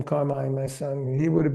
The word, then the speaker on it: Carmine: give him the name Carmine, my son. He would have been the third because everybody calls me Carmen and Yeah. Come on, dude. M I N E doesn't spell men.